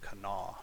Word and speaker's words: Kanawha: Kanawha, or I believe it's just Kanawha is how that's pronounced.